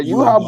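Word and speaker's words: Yhwach: Yawich, is that how you say it? Yeah, Yuha, but Yuha's not.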